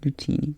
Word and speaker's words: Nutini: Nutini.